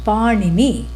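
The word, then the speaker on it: Pāṇini: Not to be confused with the bread that goes by the same name. Different pronunciation. Panini, And so what did Panini say?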